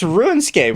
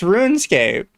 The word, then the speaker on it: Runescape: It's Runescape. What are you talking about? He's saying He's saying Ruin and it's Rune. It's Runescape.